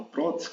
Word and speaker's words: prótese: for analisar essa palavra prótese Qual é a sílaba tônica aquela sílaba mais forte é pro imagine né que você está